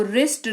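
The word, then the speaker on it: wrist: rule को follow करेगा जिसके तहत डब्लू का उच्चारण नहीं किया जाएगा इसको रिस्ट रॉन्ग राइट ये पढ़ा जाएगा आगे बढ़ेंगे कुछ मिक्स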